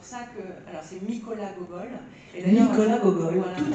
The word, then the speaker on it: Gogol: Alors c'est Mykola Gogol. Mykola Gogol, voilà. Tout à fait. Alors j'aurais dû même écrire Hohol, parce qu'en fait en ukrainien le que se prononce peu.